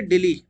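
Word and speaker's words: Dili: की ना राजधानी है दिल्ली क बार इसको प्रोनाउंस करते दिल्ली की तरह तो यह दिल्ली इसकी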